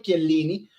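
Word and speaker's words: Chiellini: Georgio, aquí decimos Georgio Chielini, ¿no? Verdad, decimos Georgio Kielini porque entendemos que es un nombre italiano y lo pronunciamos como debe ser.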